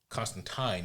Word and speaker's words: Constantine: Constantine is the way it's supposed to be pronounced at least two times